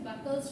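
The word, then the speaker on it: Buchholz: हम जानेंगे कि बुखोज रिले कैसे काम करता है। सबसे पहले हम जान लेते हैं बुखोज रिले आखिर क्या है। আচ্ছা, এটার প্রোনাউন্সিয়েশনটা হচ্ছে বাকলস রিলে, ঠিক আছে?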